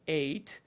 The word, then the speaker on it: ate: একটু দীর্ঘায়িত ইট আচ্ছা আর পাস্ট হচ্ছে দুইটা একটা হচ্ছে আমরা জানি এট আর একটা হচ্ছে উচ্চারণ দুইটা হয় একটা হচ্ছে এট আর হচ্ছে সাতের পরে যে নাম্বারটা আট সেটার ইংরেজি এইট সো ইটের পাস্ট হচ্ছে এট এটাও বলতে পারি আবার এইট এটাও বলতে পারি ইট এট অথবা